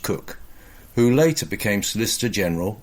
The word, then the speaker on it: Coke: One such probably apocryphal but enduring and ancient and therefore possibly true story about this involved the young lawyer Edward Coke, pronounced Cook, who later became Solicitor